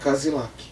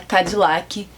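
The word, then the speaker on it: Cadillac: Fala de novo saiu cilac saiu nada caiu cadlac que é como se fala cadlac em inglês dá licença Tá bom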